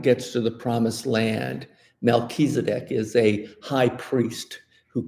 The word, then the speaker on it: Melchizedek: Now, didn't I'm gonna mispronounce his name, Melicanizer, No, I know what you're referring you know, to. the Canaanite. The Amalekites. The Canaanite priest, Oh, Melchizedek.